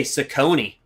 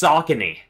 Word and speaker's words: Saucony: I used to say Saucony, but it is pronounced Saucony.